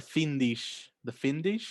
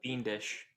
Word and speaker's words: Fiendish: Evil is everywhere, and you hear about the Findish. Is that how you pronounce that? Fiendish.